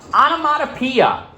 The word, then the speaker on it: onomatopoeia: notes uh go ahead dane you got it onomatopoeia spelled like this o n o m a t